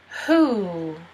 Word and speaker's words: who: You actually don't pronounce the W in this word. Ooh. And it's kind of like ooh. Who.